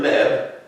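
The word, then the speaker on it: לב: That's the Hebrew word leb for heart. That's how you pronounce it. You just put a vowel point between the L and the B. That's an L sound and that's a B sound.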